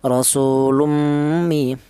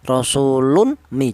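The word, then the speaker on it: رَسُولٌ مِنْ: Rasulummi dibaca idgham bighuna. Alasannya tanwin berjumpa dengan huruf mim. Ya, apa artinya idgham? Ya, idgham itu artinya menyatu. Cara bacanya tanwin ini langsung menyatu ke huruf mim ini. Rasulummi seperti itu. Jangan tanwin ini jangan dibaca izhar.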